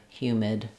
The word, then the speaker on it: humid: Um, and then finally for humid, uh, same idea. We have the same hue first syllable stressed. And then the mid is very straightforward. Just a m i and d humid.